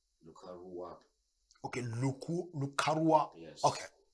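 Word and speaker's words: Lakurawa: so far good morning luar is actually pronouncing as larua okay luu luara yes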